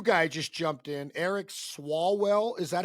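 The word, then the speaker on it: Swalwell: Because you have Eric, uh, Tom Styer, Katie Porter, and then a new guy just jumped in, Eric Swallwell. Is that how I pronounce it?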